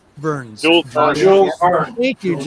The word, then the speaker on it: Jules Verne: It was like reading James Earl Jones, no, Jewel, I can't pronounce it. Jewel Burns. Jules Verne.